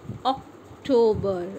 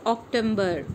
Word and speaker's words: October: It's October. It is not October.